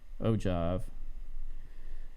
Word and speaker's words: ogive: is useful for creating what they call an ogive pronounced oh um ogive those are back in the 70s and some